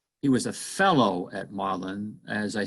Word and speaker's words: Magdalen: that form one university and lewis taught at maudlin college uh it's actually it's spelled magdalene but it's actually pronounced um and